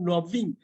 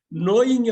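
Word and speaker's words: knowing: இதா இருக்கும் K cancel K மட்டும்தானா கே மட்டும் தானா டபள்யூ உண்டு நோன்னு தான் சொல்லணும் நவ்னு சில பேர் நவ்விங் நோயிங் வந்து நவ்விங்ன்றாங்க நோயிங்னு சொல்லணும்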